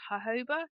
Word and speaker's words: jojoba: in many products is an oil called hoba. It's spelled jojoba. And I've always called it the wrong I've pronounced it wrong until you um, but that molecularly is really similar to the skin's own sebum.